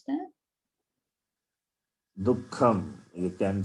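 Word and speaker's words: दुःखम्: Dukkham. You can say Dukkham. The Visarga also takes the sound of Kakara.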